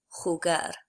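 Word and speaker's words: jugar: remember that for J the letter J in Spanish is always pronounced I suppose a little bit like an H in English it's from your throat sort of like so the word for chess is pronounced a head breath and the word to play is pronounced holger so the next one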